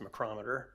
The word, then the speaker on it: McCrometer: um he's not here so uh the correct pronunciation is macrometer so close close close but anyway this resolution is is to allow the city manager of course to enter into a contract with mccrometer Incorporated and for monitoring services on our sanitary